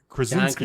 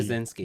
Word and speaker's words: Krasinski: John Krasinski. Krasinski. Yeah, I always want to add a syllable to his name.